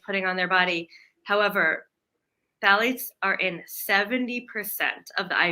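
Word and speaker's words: phthalates: that anybody is putting on their body however phalates are in 70% of the IV tubing and medical bags in hospitals in California now is there I was pronouncing it phalates it's phalates that's right people say it different ways it's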